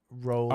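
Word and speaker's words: Rowling: Not that we care about pronouncing transphobes' name correctly, but it's pronounced rolling. Oh, like bowling.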